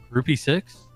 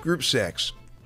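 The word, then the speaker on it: Groupe Six: she wants to do groupy six the hell is that I believe it's pronounced group six yeah it's French Cassidy yeah I thought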